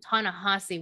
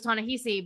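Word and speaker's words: Ta-Nehisi: hussey was talking about by the way it is tahasi we've been saying it wrong all this time uh no i was too i always thought it was taunahisi but i've never heard it out loud apparently i've only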